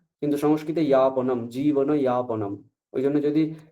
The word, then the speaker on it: যাপনম: যাপন, এখানে অন্তর্জ লিখছি আমি, অন্তর্জ লিখলেও আমি উচ্চারণ করছি বর্গীয় জ, যা বলছি, তাই না? কিন্তু সংস্কৃতে ইয়াপনম, জীবন ইয়াপনম, ওই জন্য যদি এরকম লেখা থাকতো আমি তাহলে ইয়াপনমই বলতাম, তাই না?